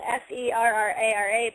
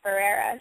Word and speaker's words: Ferrara: It's actually it's pronounced or it's spelled F E R R A R A, but it's pronounced Ferrer.